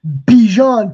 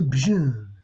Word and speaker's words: Bijan: He's changing the pronunciation from Bijan to Bijan.